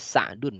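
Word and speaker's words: سعد: Kita orang Indonesia sering menyebutnya Sa'ad ya, padahal asalnya Sa'dun ya.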